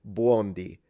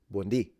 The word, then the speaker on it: buondì: It's actually, I find it very cute, but she's saying buondi. So she's stressing the beginning, but we stress the end because there is an accent. So we would say buondì. Buondì. That's how you pronounce it in Italian.